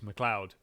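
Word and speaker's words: McLeod: Listen, I just it it's been about sometime in the last five years was when I learned that um that MC CL E O D is Mloud. Um I um but to my credit, I figured it out by myself.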